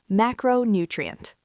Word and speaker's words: macronutrient: The word is macronutrient. 5 syllables. The primary stress falls on the first syllable, ma. Say it slowly.